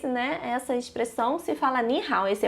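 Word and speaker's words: 你好: Na segunda aula a gente vai ver mais a pronúncia, tá? Mas, né? Para a curiosidade de vocês, né? Essa expressão se fala ni hao, esse é o ni de você, esse é o hao de bem, bom, né?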